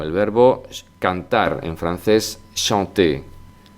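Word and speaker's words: chanter: verbo cantar en francés shanté la ch Siempre será sh shant shant shanton shanté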